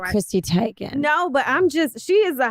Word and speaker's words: Chrissy Teigen: Chrissy Teigen.